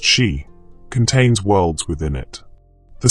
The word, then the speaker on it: sídhe: But side pronounced she contains worlds within it.